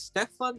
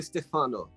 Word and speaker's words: Stefano: saying your name right stefan or stefano stefano you're staying at the italian way which is the correct pronunciation so thank you for